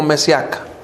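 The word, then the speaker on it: משיח: yo soy el mesías la palabra mesías hermanos en el hebreo se pronuncia como mes y acá yo soy el mes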